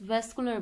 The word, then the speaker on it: vascular: कुछ लोग वैस्कुलर भी बोलते हैं, कुछ लोग वास्कुलर भी बोलते हैं, तो आपको जो आसान लगे आप वो इसको प्रोनाउंस कर सकते हैं.